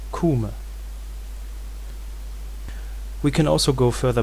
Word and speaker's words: Kûme: And the rules of that reconstructed Egyptian vowel system say that E usually goes back to long U. There are exceptions in certain consonantal environments, but usually it goes back to U. So we can reconstruct the name of Egypt during the time of the New Kingdom as Kûme.